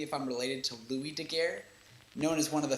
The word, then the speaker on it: Daguerre: pronouncing my last name I think I figured it out though its duh like what you say when a stay-at-home protester gets sick gay as in what